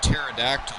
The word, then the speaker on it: pterodactyl: you not hear a pterodactyl go to the bathroom tagged in why can't you because the p is silent these two work so